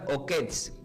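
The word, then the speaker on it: עוקץ: Y del hebreo se pronuncia como okets, que es o con acento en la o.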